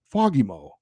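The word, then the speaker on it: Samuel Fagemo: you watch these Swedish highlights of him it's foggy Mo if you watch a video of his first NHL goal this is my favorite Alex Faust said fogimo on the goal and then Jim Fox in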